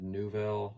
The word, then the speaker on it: Nouvelle: I believe that's how you pronounce it, Nouvelle. That's how they pronounce it in the video.